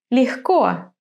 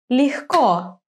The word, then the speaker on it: легко: In some words, the stress falls on the last syllable. Тепло. Легко. Окно. Вино. Тепло. Легко.